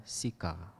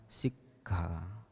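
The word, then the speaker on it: sikkhā: Nah, oleh karena double k, aturannya adalah berhenti sejenak di antara double k. Jadi diucapkan sikha, artinya pelatihan. Sementara kalau kita keliru mengucapkannya menjadi sika, nah itu artinya menjadi lain dan jauh.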